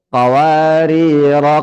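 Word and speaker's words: قوارير: Berarti bacanya Qawarir, qawarir. Kalau berhenti di kata kedua. Beda tadi kalau berhenti di kata pertama, panjang ya. Itu bedanya. Nah, kalau disambung sama-sama tidak panjang.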